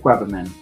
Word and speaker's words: Quebbemann: Will you pronounce it for us? Sure. Then Weberman and, while everybody's still getting on